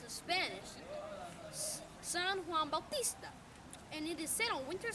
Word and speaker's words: San Juan Bautista: John the Baptist but is we pronounced in Spanish San Juan Bautista and it is settled winter solstice it looks like st.